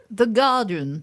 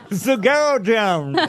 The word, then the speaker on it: Guardian: The Guardian. The Guardian. Ah Normalement, effectivement, on dit pas le U.